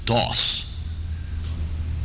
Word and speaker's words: Daws: So it's actually pronounced, and he preferred that you pronounce it Dawes.